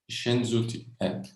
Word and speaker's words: Senjuti: Você pronuncia Senjuti. É Senjuti. Com SH. Senjuti.